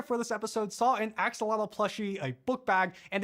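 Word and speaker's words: axolotl: By the way, the name axelottle is pronounced more like asholot in nwat, the language of several indigenous groups from central Mexico. For now, we're going to stick with the anglicized pronunciation of axelottle, but whatever you call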